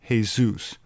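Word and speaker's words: Jesús: support arguments for why in Latin and spanish-speaking countries Jesus's name is pronounced hey-zeus which is claimed by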